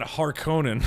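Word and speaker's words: Harkonnen: Yeah, there's Harkinin and then Har Conan, right? It's a not Conan, just it's not regular Conan. It's now Har Conan.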